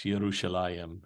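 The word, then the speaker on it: ירושלים: The root that we would pronounce, well, we pronounce it with a J, but they would pronounce it with a Y. I mean, there is no J in Hebrew. So Jerusalem is not Jerusalem, it's Yerushalayim.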